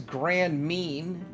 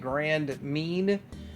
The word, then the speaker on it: Grand Mean: All right, I'm too much beating around the bush here, but this is Grand Mean. That's how you say it, Grand Mean.